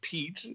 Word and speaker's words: Piet: with the spelling of Pete and how to pronounce it right. I just put the well, I mean, in German, if you read the name, it sounds just the way it sounds, Pete.